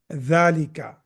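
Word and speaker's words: ذلك: And the same way, zalika also, it has fatha over it. There is no alif after that, but it is pronounced as zalika.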